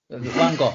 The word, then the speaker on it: Van Gogh: Van Gogh.